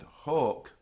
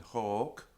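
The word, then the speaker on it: hōc: Double C however um note that Heek and hawk also do exist with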